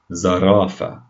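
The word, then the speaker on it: زرافة: And giraffe in Arabic is known as zarafa. Zarafa. See how the za sound, the z sound at the beginning?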